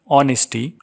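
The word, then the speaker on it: honesty: abstract noun for example ऑनेस्टी इसमें silent है ऑनेस्टी wisdom virtue ugliness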